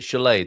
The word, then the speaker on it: chulé: And we pronounce it Chulé, do we? Chulé. Chulé. Chulé.